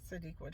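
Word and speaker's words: Sadeqa: Even though I know her name is difficult to say or maybe somebody never seen her name before, but uh Sadqua Johnson, keeper of lost children.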